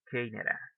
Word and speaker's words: Canada: the word canada canada where do you think it's the stress word canada yes the first stress well the stress work is in the first syllable so that's why you